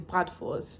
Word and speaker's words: bratwurst: You know, so I got so used to saying like the German pronunciation that I just did the German pronunciation. And then like this guy kept correcting me. He's like, yeah, he kept correcting me. He's like, yeah, that's not how you say it. You have to say it like that. And I'm like, well, but the German actual way of saying it is bratwurst.